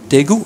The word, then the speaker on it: Daegu: Do I pronounce that correct? Daegu? Daegu, okay.